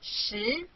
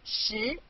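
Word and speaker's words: 十: chinese culture means ten english this is it's syllable shi repeat after me she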